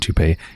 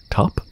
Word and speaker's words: taupe: toupee wait wait no that's not toupee that's a color isn't it top it's pronounced - it means gray